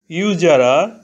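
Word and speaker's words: usurer: ইউজারা ইউজারা অর্থ সুদখোর ইউজারা এর প্রথম অক্ষর ইউ ভাওয়েল এখানে ইউ এর উচ্চারণ ইউ এর মত হয়েছে শব্দের প্রথমে ইউ থাকলে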